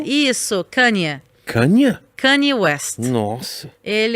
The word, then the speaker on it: Kanye: Como é que se pronuncia o nome dele? Você vai perguntar pra mim? Tá, ok. Kanye. Isso, Kanye.